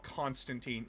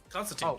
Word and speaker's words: Constantine: Constantine. John Constantine. His original creator says it's supposed to be Constantine. Yeah, I pronounced it's it's pronounced Constantine or Constantine based on your uh geol location.